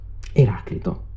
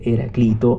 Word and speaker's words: Eraclito: discusso perché secondo lei si dovrebbe dire Eraclito e non Eraclito. È assolutamente vero, è assolutamente corretto, in maniera convenzionale, per convenzione si utilizza la pronuncia alla latina Eraclito, ma io, avendocelo in testa, proprio lo vedo scritto in greco, dico sempre Eraclito.